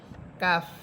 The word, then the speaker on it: কাফ: এটা প এর উচ্চারণ হবে না। এটা হবে ফ। বাংলাতে ফ এর উচ্চারণ হবে। কাফ কাফ আচ্ছা এর কাফ এটা শব্দের মধ্য।